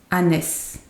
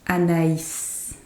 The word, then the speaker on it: Anaïs: So if, let's say there was no I tréma, it was just a regular I, it would be pronounced Anès. Anès, because the A and I would be the sound E. But because there is a tréma, it becomes Anaïs.